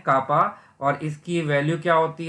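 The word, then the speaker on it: κ: से रिप्रेजेंट करते हैं विच इज प्रोनाउंस एज कापा। इसको हम एक ग्रीक लेटर से रिप्रेजेंट करते हैं, इट लुक्स लाइक के, और इसको हम क्या प्रोनाउंस करते हैं, कापा।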